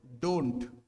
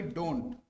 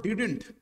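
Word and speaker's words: didn't: অনেকে এটাকে উচ্চারণ করো ডিডেন্ট অনেকে এটার উচ্চারণ করো ডিডেন্ট তো জাস্ট একটা ছোট্ট টিপস দিচ্ছি হ্যাঁ ডিডেন্ট বলবে না উচ্চারণ করবে কি ডিন্ট ঠিক আছে উচ্চারণ করবে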